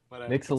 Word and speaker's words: Mixel: how Mixel is spelled Mixel it's not hard it's like pixel Nago okay anyway you